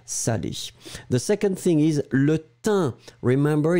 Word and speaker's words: thym: The second thing is le thym. Remember, it's a tricky one because you write it like T-H-Y-M, but you pronounce it thym. Un. It is really a nasal, so it goes there.